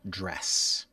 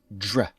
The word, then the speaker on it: dress: the green and black dress I like the green and black dress this dr if you think of this like the J sound like my name you'll be a little closer dress dress dress now's before